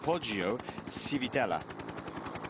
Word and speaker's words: Poggio Civitella: Poggio Civitella.